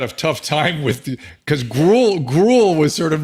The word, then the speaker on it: Gruel: Is it like Gruel? Gruel, like the porridge.